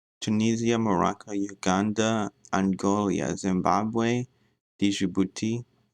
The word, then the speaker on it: Djibouti: Tunisia, Morocco, Uganda, Angola, Zimbabwe, Djibouti, how do you say that? And Botswana. Oh. Country in East Africa. Pronunciation, there you go. Djibouti. Djibouti.